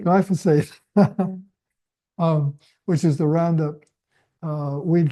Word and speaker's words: glyphosate: Glyphosate, Glyphosate.